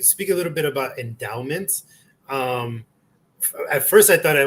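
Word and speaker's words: Endaoment: Yeah, so endowment, and it's spelled ENDAO, like a Dow, mint, right?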